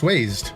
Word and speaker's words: Wazed: Wazed or Wazed? Wazed. Oranguru Lopunny. It's pronounced Wazed.